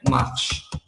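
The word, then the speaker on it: marchent: Marche. On le prononce marche.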